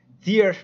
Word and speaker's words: tier: front qualities front squats tear rhymes with deer that's awesome that's a